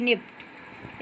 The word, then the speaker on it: nipped: Birds का मतलब होता है कलियाँ, और निप्ड का मतलब होता है, यहाँ देखिए एक पी साइलेंट है, वैसे इसका पूरा मीनिंग होता है NIPPED, निप्ड।